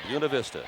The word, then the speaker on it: Buena Vista: friends out there saying, why aren't they saying Buena Vista? Because in Saginaw County, it is called Buena Vista. So that's the way they want to pronounce it. That's the way we will pronounce it.